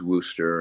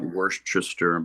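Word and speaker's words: Wooster: Yeah, I grew up in a small rural town of about 30,000 folks called Worcester spelled with double O because the cows go m everybody says Worooster and it's not worister but yeah it's just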